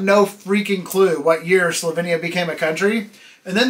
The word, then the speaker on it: Slovenia: I've found out since then is it's actually pronounced Slovenia Slovenia had I been told that I would